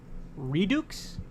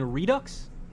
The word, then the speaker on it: Redux: that even though I redukes you mean Redux r e d u x x I think it is Redux why would you say redukes probably deliberately too this